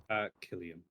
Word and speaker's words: Cillian: Now, is it pronounced Cillian or Killian? Killian. What is it?